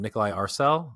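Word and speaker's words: Nikolaj Arcel: I think it's Nikolai is how you pronounce his name. Nikolai Arcel or Archel, whatever.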